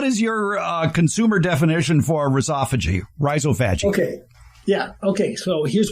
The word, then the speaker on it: rhizophagy: I may live in Anchorage, Alaska, but I pronounce it rhizophagy. I'm blunt. Google likes to say, I can't even say how Google says it. Or something. Rhizophagy. They emphasize the O.